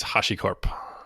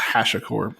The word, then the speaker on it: HashiCorp: of your company please its Hoshi Corp see I always call it hash accord because I'm yeah I